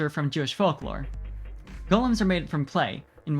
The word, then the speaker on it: Golem: which is of course golem much to his surprise this ends up being pronounced like gollum anyway cockney model on a